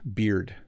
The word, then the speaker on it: beard: I am over pronouncing it a little bit because I want you to hear the D, beard.